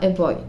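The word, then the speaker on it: voi: Le V se prononce B. Parfois, il se prononce W, j'ai pas le temps de vous expliquer ça, mais ici on dira hey boy.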